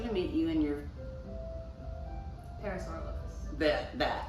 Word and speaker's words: Parasaurolophus: Parasolariphus? How do you say it? Parasaurolophus.